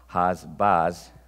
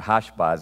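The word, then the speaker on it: Hash-baz: So the son whose name was Mear Shalal Hasbaz, or Hashbaz, excuse me, he was actually an anti-type, or excuse me, a type.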